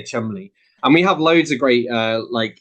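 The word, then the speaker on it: Cholmondeley: spelled it looks as though it should be pronounced chol mandoli but it's just because we're British we say we say Chumley and we have loads of great uh like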